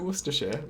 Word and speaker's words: Worcestershire: do i pronounce it how do i pronounce war sister shirey uh i pronounce it worcestershire like uh like a um like i don't